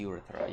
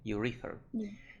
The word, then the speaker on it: urethra: you read her urethra I thought it was the urethra yeah but it's actually second syllable urethra anyway so what does